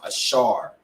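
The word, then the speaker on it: אשר: the Year great Uruguay which today they are pronounced ashar A Shard notice how he you know uh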